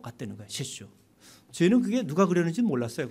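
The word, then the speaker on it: 雪舟: 셰슈. 저희는 그게 누가 그렸는지 몰랐어요. 거기 설주라고 이렇게 한말로 한문으로 써 있는데도 한 번도 누군지 생각할 찾아볼 생각도 안 했죠. 설주라고 써 있는 것이 일본말로 할 때는 세슈라고 읽더라고요.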